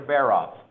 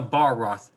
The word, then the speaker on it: Barroth: Legislator Baroff. Thank you very Did I much. say it right? No, Barroth.